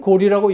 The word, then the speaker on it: 고려: 그런데 여기서 고려는 고리라고 읽었다고 줄을 달았다는 겁니다.